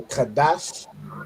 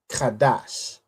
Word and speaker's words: Qadash: So if you look at the Hebrew, we have ka right here, then we have a da and a sha joined together to make dash. So this is how we get Qadash, right?